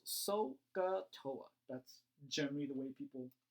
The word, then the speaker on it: SOHCAHTOA: and by the way this is once again pronounced sohcahtoa that's generally the way people choose to pronounce